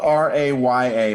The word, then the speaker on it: Raya: with the same grade uh we're doomed uh it's spelled r-a-y-a but it's pronounced raya uh and disney was